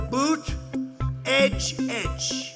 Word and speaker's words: Buttigieg: Boot, edge. Say edge like the edge of a building.